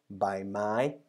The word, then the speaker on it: ใบไม้: So the consonant itself has a middle tone, ba, and the marker word has two syllables, middle tone and high tone, bai mai, bai mai, bai mai, which means leaf of a plant, of a tree, whatever.